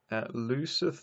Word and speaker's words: looseth: Looseth nor locketh. Note that our original, as I was pronouncing it, was correct. Looseth. So spelling was a little bit ambiguous in the 1500s. Today we would write looseth.